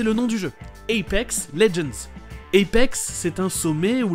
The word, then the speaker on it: Legends: Et Legends, c'est juste légende en anglais, avec le G qui se prononce J. Apex Legends.